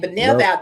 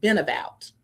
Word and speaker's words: Benevout: uh whenever they see it written it's they pronounce it benabout and that's okay but it's benevout because these two words combined bene benevolence benevolent and uh outreach so benevout and